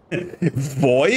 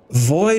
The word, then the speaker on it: Vooi: Boy oder bin ich eher dein Boy? Oh, nicht B. Weißt du, bei der Aussprache leicht auf die Lippen. Boy.